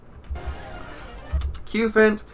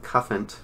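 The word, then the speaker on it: Cufant: dreadnought so it's dreadnough cubant which should really be goddamn pronounced cuffent because it's cu like copper but oh well cute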